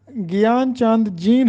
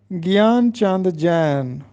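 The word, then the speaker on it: گیان چند جین: تھا، امراؤ جان ادا۔ اسی طرح گیان چاند جین ہم پڑھتے ہیں جبکہ درست تلفظ ہے گیان چاند جین۔ السلام علیکم عزیز طلبہ،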